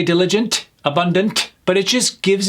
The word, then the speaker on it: diligent: Diligent. Emphasis on that first syllable. Diligent. Hardworking and careful in completing tasks. Diligent. Not diligent. Diligent or diligent because we see an e. That's another I sound just like abundant.